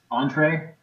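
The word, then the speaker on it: Entrez: right um so the I guess entree is how we pronounce that the entree programming utilities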